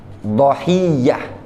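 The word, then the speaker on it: ضحية: Wa yajuzu hadful hamzah, boleh dibuang hamzanya. Wa fathud dhad, namun dhodnya di fathah. Bacanya gimana? Dhahiyah. Difahami? Dhahiyah. Jadi boleh udhiyah, boleh idhiyah, boleh dhahiyah.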